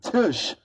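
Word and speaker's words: Tisch: from buying CBS and uh this guy named tush which is the chairman of CBS his name is spelled t-i-s-c-h he is the guy who actually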